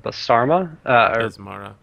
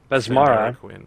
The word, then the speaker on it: Besmara: And the other is the cleric of Basarma. Besmara. Sandara Quinn. Thank you. My pronunciation is not very good at all.